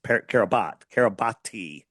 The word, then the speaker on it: Kiribati: And all it says is it was registered to the nation of Kiribati, or it's Kiribati, but it's pronounced Kiribati, right?